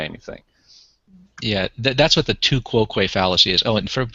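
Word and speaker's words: tu quoque: yeah that's what the two ququ fallacy is oh and for those who it's pronounced two quo uh and it and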